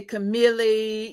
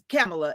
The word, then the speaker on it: Camela: is camela and so everybody would say camele you just it's pronounced just like the the vice president camela and they always mess